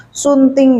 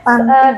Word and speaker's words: stunting: Selama ini mungkin cuman dengar-dengar sekilas, ada yang salah ngomong, ada yang bilang stunting, ada yang bilang sunting gitu. Tulisannya stunting, bacanya stunting.